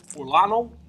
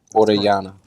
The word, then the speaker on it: Orellana: I believe it's pronounced as Orlano. How you pronounce this? Orellana. Oh, you gotta roll it.